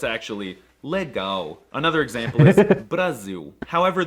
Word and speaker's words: legal: weren't calling him Lauren the L is also quirky because it's often pronounced as a w like in the word legal well it looks like it should be pronounced legal but it's actually Lego another example is Brazil